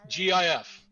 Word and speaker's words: GIF: was inflamed was because the guys that invented the the gif said that it's pronounced jif but it this video explains why it should not be pronounced gf it should be pronounced gif even if the guys who made it say so can you just tell